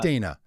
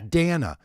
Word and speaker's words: Dana: Her name is not Dana. It is Dana.